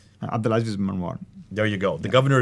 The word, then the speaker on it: Abdulaziz ibn Marwan: It was stated that the Cairo copy might have been written on the order of the Al-Azib ibn Marwan. Excuse me for my pronunciation. Abdulaziz ibn Marwan.